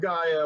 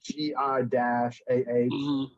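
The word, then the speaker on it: G'iah: Not Gaia like Earth Gaia. It's like GI-AH.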